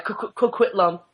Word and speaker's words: Coquitlam: Yeah, Coquitlam.